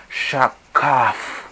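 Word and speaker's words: shakját: Sin embargo, esta es su transliteración escritural, pero su transliteración fonética, es decir, su forma de pronunciar esta palabra shakhak, se dice o se pronuncia shakaf. Shakaf.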